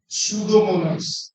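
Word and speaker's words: Pseudomonas: Bacteria का नाम है सूडोमोनास। ये पी है भाई, इसका नाम पूरा अच्छे से लिख लेंगे। सूडोमोनास, पी यहां पे साइलेंट है। पी क्या है? साइलेंट है।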